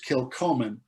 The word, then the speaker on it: Kilchoman: And so actually, I believe the pronunciation is Kilchoman.